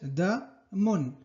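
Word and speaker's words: دم: Da, buscar la D con fatha es la da, y la M con doble damma, que es mun. Muy bien, entonces da, mun. Damun, que es sangre.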